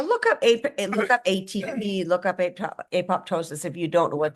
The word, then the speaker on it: apoptosis: It's pronounced apoptosis.